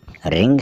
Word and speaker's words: wring: WRING, रिंग होगा ये।